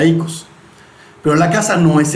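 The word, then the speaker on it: οἶκος: salúdenla recordemos en griego la casa es icos se escribe como El yogurt oicos pero se pronuncia Ecos pero la casa no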